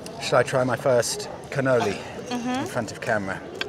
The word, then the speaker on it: cannoli: Shall I try my first cannoli in front of camera? Cannelloni. Yeah, that's the wrong pronunciation.